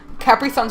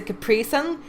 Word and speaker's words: Capri Sun: I know in America they say Capri Sun. It's a Capri Sun. Over here we pronounce it Capri Sun. It's slightly different, but I always picked up on that.